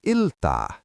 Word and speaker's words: iltaa: Teacher: If it's evening, we say Hyvää iltaa. Mnemonic: Think of the Ill-umination of the streetlights at night. Iltaa.